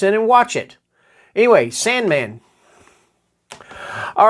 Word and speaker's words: S&Man: You know, and they even make sure that you know to pronounce it Sandman down here. I guess because they don't want somebody thinking, sand symbol man, I don't know. Or Sampersand man or something like that.